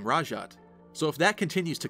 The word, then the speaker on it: Rhajat: waters a bit, as her name is indeed pronounced with a hard J, and she has actually had her name officially spoken.